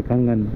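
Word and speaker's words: Kangan: के ए एन जी N, okay कंगन।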